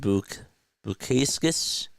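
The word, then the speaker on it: Bukauskas: into the box he's still AOK Jak JB bu bukus is how he say his name he is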